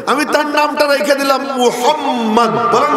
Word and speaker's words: মুহাম্মদ: আমি তার নামটা রেখে দিলাম মুহাম্মদ। বলেন না মুহাম্মদ। এমন নাম রেখে দিছি যে ওই নামটা যে উচ্চারণ করবে, উচ্চারণ করতে সময় দুইবার দুই ঠোঁট মিলে যায়, তো আমার নবীর তরে দুইটা চুমু রওনা হয়ে যায় মুহাম্মদ।